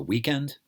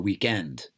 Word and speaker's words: weekend: In America, we call it the weekend. The stress is on the first syllable. And in England, they call it the weekend. Stress is on the second syllable.